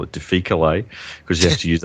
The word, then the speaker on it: difficile: diff, where you've got this overgrowth, the Clostridium difficile, or a lot of people call it difficile. I'm an old Latin scholar, so I call it difficile, because you have to use a hard C if you're an old Latin scholar.